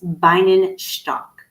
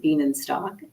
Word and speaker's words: Bienenstock: So he came from Budapest, and his last name, Bienenstock, or if you pronounce it in German, I might be butchering it a little bit, but it's Bienenstock.